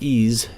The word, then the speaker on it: EES: EES, which is pronounced EASE, is an acronym for Engineering Equation Solver.